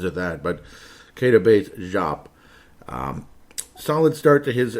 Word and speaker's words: Diop: been out there before it's jop it's not dup it's jop Kates jop all right sound